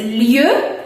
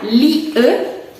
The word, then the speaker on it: lieu: La primera que es lieu, y se pronuncia lieu, lieu.